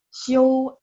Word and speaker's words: 休: Ingat, 休息, 休 kan X-I-U, bacanya X-I-O-U, ada O-U-nya, ya, ada O-nya. 休息, istirahat. Kalau belajar, 学习, istirahat, belajar. 学习, kalau istirahat, 休息, ya, beda pronunciation-nya, beda lafalannya.